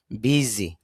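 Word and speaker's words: busy: না এখানে জি হবে বর্গীয় জর মত তাহলে উচ্চারণটা হবে বিজি বিজি এটা আমি কিভাবে বুঝলাম এটা আপনি এই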